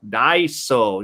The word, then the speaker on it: Daiso: what a korean daiso looks like see so daiso you see the korean writing the hunger it's pronounced daiso so there's one of them okay